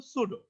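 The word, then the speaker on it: pseudo: দেখেন এটার উচ্চারণ কিন্তু সুডো, সুডো মডেল।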